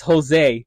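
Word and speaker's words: José: And this guy, he says Jose. Confidently said Jose. Yes. And if you don't know, Jose is spelled with Jose, the J being silent in Spanish, in the Spanish language.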